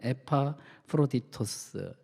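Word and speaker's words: Ἐπαφρόδιτος: 에바브로디도, 발음을 정확하게 할 수는 없지만 에파프로디토스, 헬라어입니다.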